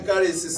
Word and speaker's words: charis: in Greek or charis pronouncation caris C a h r i caris.